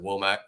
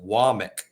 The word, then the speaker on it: Wommack: too aware of him I mean I said wack for a while until until I was told otherwise but uh no his his name is pronounced wck uh um okay yeah all right yeah it's